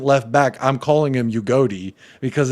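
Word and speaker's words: Udogie: He's not being stopped by a man called Doggy. Also, so it's pronounced Ugodi, by the way.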